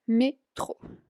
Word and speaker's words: métro: De ahí, como ya lo habrán visto, la palabra metro en francés se dice igual, pero se pronuncia a la manera francesa, que es métro.